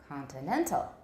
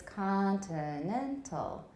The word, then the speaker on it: continental: with the correct rhythm so it's not continental it's continental we have a kind